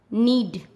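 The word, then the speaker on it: knead: के कब साइलेंट होता है? जब एन से पहले के आता है तब के का उच्चारण नहीं किया जाता। क्या बोला मैंने? एन से पहले के आता है तब के का उच्चारण नहीं किया जाता। जैसे एन से पहले के है नॉक, एन से पहले के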